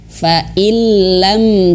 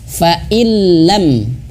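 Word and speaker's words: فَإِن لَّمْ: Contohnya fa illam taf'alu. Nah, ini nun mati, nun sukun bertemu dengan huruf lam. Jadi bacanya langsung masuk ke huruf lam. Fa illam dan tidak ditahan.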